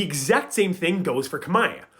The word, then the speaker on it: Khmer: The exact same thing goes for Khmer. The R is spelled in the word because historically it was pronounced.